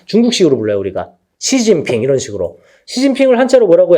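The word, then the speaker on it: 習近平: 습근평. 우리나라 말로는 중국어로는 시진핑. 중국어 하시는 분 없냐? 중국어는 사성조라서 소리에 따라 중국어 하는구나. 어렵죠? 그러니까 뭐 시진핑 뭐 이렇게 하겠지. 우리나라는 습근평이라고 한다.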